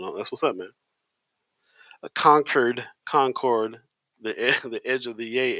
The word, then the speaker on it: Concord: It's pronounced Concord.